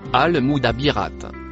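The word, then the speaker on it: المدبرات: Le mot écrit en rouge se prononce al mouabirate.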